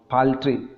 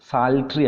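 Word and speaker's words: Psalter: ഗ്ലോസറീസ് കൺകേഴ്സ് A crowd പാൽട്രി sorry പാൽട്രി അല്ലട്ടോ അത് സാൽട്രി ആണ് പുസ്തകം നമ്മുടെ ടെക്സ്റ്റിൽ ഉള്ളത്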